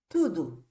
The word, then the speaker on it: tudo: those differences right now tudu tudu pronounced T do too this means everything it's